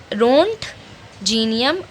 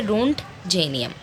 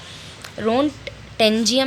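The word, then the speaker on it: Roentgenium: रोंट जीनियम और रोटेंजियम. अब बेस्ट और सही प्रोनाउंसिएशन क्या है? रोंट जेनियम, ठीक है. रोंट टेंजियम नहीं है, रोंट जेनियम है, ठीक है.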